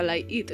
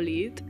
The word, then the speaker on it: Light it: dije de Light it que se pronuncia light it no leit eh creo que os